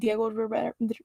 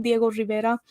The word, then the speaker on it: Diego Rivera: mostly with her husband diego rivera well why did i just pronounce his name wrong diego rivera like i didn't really